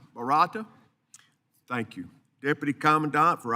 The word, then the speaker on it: Barata: Barata. Is that correct? Barata.